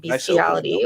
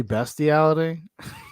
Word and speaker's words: bestiality: The definition of the term beastiality or bestiality for any non-Americans wishing to pronounce it as it's actually spelled has evolved over time. She's got to be pretentious about it. No, it's actually bestiality.